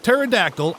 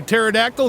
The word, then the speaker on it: pterodactyl: jurassic and cretaceous periods why can't you hear a pterodactyl go to the bathroom the p is silent get it sorry that